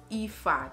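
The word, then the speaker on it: Aoife: So for example, I already stated Ifa, A-O-I-F-E. Who would have thought that it would have been pronounced as Ifa?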